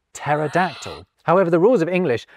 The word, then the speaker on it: pterodactyl: So, we pretend the P isn't there when we pronounce Greekder derived words like psychology and psalm. Ditto with t words like pterodactyl.